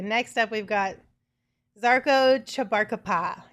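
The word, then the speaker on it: Žarko Čabarkapa: All right, next up we've got Zarko Chabarkapa. Is that how you say it? Yes.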